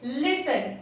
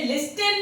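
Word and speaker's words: listen: जैसे लाइक इट्स लिसन, इसे लिस्टन नहीं कहते हम, इसे हम लिसन कहते हैं क्योंकि टी साइलेंट हो गया है।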